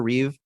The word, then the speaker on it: Reeve: would guess Christopher reev the most mispronounced name in in in Hollywood maybe Christopher Reeves all the time maybe second to Ralph Phineas but Raph finds yeah yeah yeah that guy maybe he gets mispronounced more but the amount of times I've heard Christopher Reeves Christopher Reeves and seen it spelled out Christopher Reeves it's just reev it's yeah it's pretty